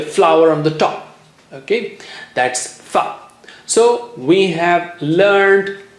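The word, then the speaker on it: ث: Let's see how do you do that.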